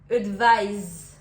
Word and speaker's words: advise: Le deuxième avec le S va faire plus un son Z, advise.